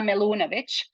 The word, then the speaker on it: Melunovic: of course um so the way I would actually pronounce it is my full name as if I would do it in my language which is Bosnian would be Irma melunovic but I always allow